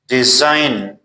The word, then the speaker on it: design: Like sign, design, resign, foreign, align.